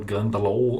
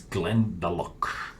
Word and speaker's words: Glendalough: Yeah, I've just had a talk with the distributor, and they told me, the pronunciation wrong. It's not Glendalough or something like that. It's Glendalough, and it's an Irish one.